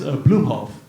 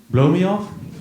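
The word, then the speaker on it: Booemhoff: and then you know my last name is bluehof but it's spelled b-o-o-e-m-h-o-f-f so somehow that gets turned into blow me off laughs so combined you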